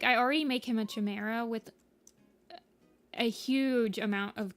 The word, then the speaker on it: Chimera: Like, I already make him a Chimera with a huge amount of colors.